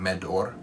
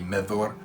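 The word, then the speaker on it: Medhor: it was that he was saying medor which the pronunciator the writing is m-e-d-h-o-r that's the spelling of that name but the pronunciation of dh and tolkien's works is a sound and so it should be methor i had to go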